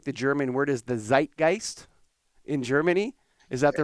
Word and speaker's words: Zeitgeist: that I think the German word is the Zeitgeist in Germany. Is that the right word? The Yeah, you Zeitgeist, pronounce it Zeitgeist.